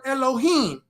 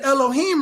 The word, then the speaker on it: Elohim: and here's the word Elohim the a in Elohim right here is silent okay and you can